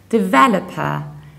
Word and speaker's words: developer: only that that is fully stress and fully pronounced the rest is reduced developer developed developer and in the American accent we